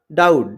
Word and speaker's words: doubt: फिर है डाउट, DOUBT, तो इसमें बी साइलेंट होगा, टी के पहले बी आया है।